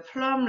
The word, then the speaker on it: plumb: 그거랑 그걸 measuring line이라고 부르고, and the plumb line, 이때 B는 묵음이고, plumb line은 그 수평을 재기 위해서, 수직이나 수평을 재기 위해서 놓는 줄, 그거.